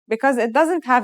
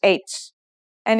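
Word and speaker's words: حاء: our first letter H this letter sounds just like the English H and it should be very easy to pronounce try it let's write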